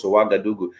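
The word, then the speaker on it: Ouagadougou: with us some real quick interesting facts about wagadugu some people if you write down wagadugu and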